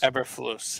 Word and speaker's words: Eberflus: Eberflus, yeah.